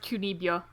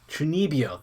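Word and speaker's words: 中二病: Yeah, I looked it up, and apparently it's pronounced Chunibyo. Chunibyo, there we go.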